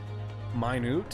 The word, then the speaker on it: minute: Minute. Have you not heard that pronunciation before, Joe? It means something small.